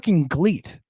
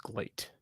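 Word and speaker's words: GLEAT: watched gleet I I don't even know what a gleet is I think glate I think it's pronounced glate it's GLE a t I'm aware of that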